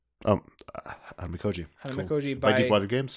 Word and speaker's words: Hanamikoji: Pronounce it again for me. Hanamikoji. Hanamikoji.